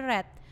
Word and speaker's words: read: verb 123 tulisannya sama read read read tulisannya tapi membacanya yang satu itu read yang kedua itu red yang ketiga juga red Nah kita kita membacanya